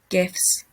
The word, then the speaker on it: GIF: put up these two gifts if you pronounce it jeff wrong surely it's gif um we've got this